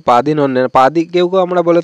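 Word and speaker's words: പതിനൊന്ന്: লিখে দিয়েছি পাদিন অন্যে এখানে দুইটা ন উচ্চারণ হবে পাদিন অনন্যে পাদি কেউ কেউ আমরা বলে থাকি পাদে অন্যে তো পাদে অন্যে এটা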